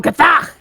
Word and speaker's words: Gazach: Gazach! Gazach! Yeah, you gotta put the emphasis on the other syllable. You gotta go Gazach!